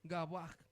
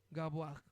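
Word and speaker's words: גָּבֹהַּ: Gabaj y acento en la en la segunda Gabuag.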